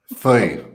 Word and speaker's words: Fille: You might be able to help me with the pronunciation. Fille? Pep, please go for it. You've practiced enough. Fille.